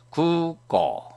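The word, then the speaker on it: 空港: 그래서 구우, 꼬우 안 하고 구를 이음절로, 꼬를 두음절로 발음하면 됩니다. 구꼬, 구기, 유기.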